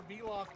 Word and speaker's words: Veloth: The Vel in Veloth is pronounced like the Vel in Velvet, by the way.